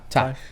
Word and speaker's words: Ti: Is it T or Ty? It's Ty. Ty West. Pretty sure it's Ty.